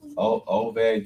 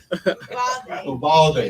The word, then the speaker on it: Uvalde: what was that Connecticut, the OVAD, UVAD, wherever that place is. Was it Texas? Yeah. And one of the guys. What you call it? I butchered that name. What's the name? Somebody. Uvalde. There we go.